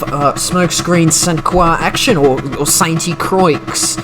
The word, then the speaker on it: Sainte-Croix: smokescreen suncoa action or saint croix uh more correctly pronounced we stay with the